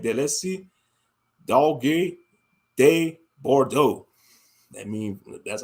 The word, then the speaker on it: Dogue de Bordeaux: They call it Dogue do Bordeaux. That's how they say it in French, something like that. Let's see. Dogue de Bordeaux.